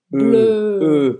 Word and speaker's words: bleu: Azul em francês é bleu. Bleu. Ou seja, faz a boca do O e fala E. Bleu.